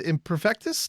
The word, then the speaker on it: Imperfektus: And Meade here is with Imperfektus.